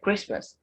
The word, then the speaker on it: Christmas: in american english and christmas the tea is something christmas so we end the